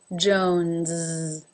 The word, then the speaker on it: Jones: as in she Williams Jones Jones like Johnson starts with this sound Jones it then has the oh as in no diphthong and notice that the S at the end is voiced Jones Jones number 4 brown